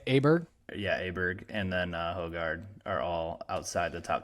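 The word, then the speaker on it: Højgaard: So lowest ranked golfer is Hogard.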